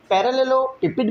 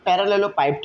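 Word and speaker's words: parallelepiped: पैरेललोपिपेड भी पढ़ा जा रहा होता है इसे, या पैरेललोपाइप्ड भी पढ़ा जा रहा होता है, तो इसकी प्रोनाउंसिएशन मुख्तलिफ है।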